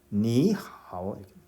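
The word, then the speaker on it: 你好: 자, 실제 발음은 니, 하오가 아니라 니, 하오 니, 하오 자, 니하고 2성으로 발음을 한 것을 들을 수 있을 테죠.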